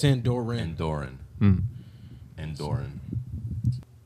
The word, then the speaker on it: Andorra: what I found through Andorian no Endor it's aunt Dora and Oren mm-hmm and